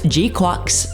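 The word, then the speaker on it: GQuuuuuX: the Premier Cinema screening of Mobile Suit Gundam G quack's beginning and yes that is how you pronounce it grateful for the title drop in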